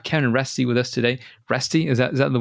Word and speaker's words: Reste: because we have Kevin Ry with us today resty is that is that the way to pronounce it yeah yep yep you're one of